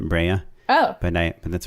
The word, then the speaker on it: Brea: star's name bria bria that's the city i'm from we pronounce it breya oh by night but that's where i grew up what city is that where is that brea it's in orange county